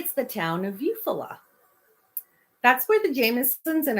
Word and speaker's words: Eufaula: It's spelled, hold on. Eufaula. Eufaula.